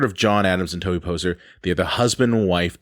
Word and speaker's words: Poser: Hey, we've got John Adams and Tobey Poser. Yeah. Am I pronouncing that right? You got it.